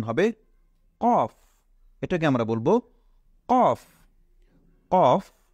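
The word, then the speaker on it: كاف: calf এরপরেরটা হলো লাম calf এবং কফ এই দুইটার মধ্যে আমরা সবসময় পার্থক্য নির্ণয় করব যে কফ সেটা মোটা হবে আর কাফ সেটা হবে চিকন তাহলে এটা হলো কাফ এরপরে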